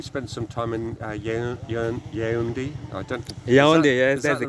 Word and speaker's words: Yaoundé: Yaoundé, yes, that's the right capital. way Good. to pronounce it.